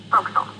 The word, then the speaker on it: forecastle: of a sailing ship, but it's pronounced forecastle. Forecastle. That's quite a Like an English sailor with no difference from how it's spelled.